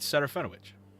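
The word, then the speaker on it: Serafinowicz: Peter Serafinovich.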